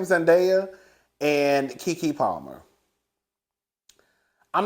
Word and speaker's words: Zendaya: All right, so Zendaya, and that's how you say her name, Zendaya, and Keke Palmer.